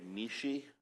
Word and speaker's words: Mish: My name is Mishi, but if you ever see me, I encourage you to call me Mish. It rhymes with leash, which I ought to